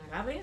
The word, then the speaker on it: Agave: Ya tenemos a Ágave, la reina Ágave en el mito, convertida en Agave, así en pronunciación llana, con una bata de cola y bailando flamenco.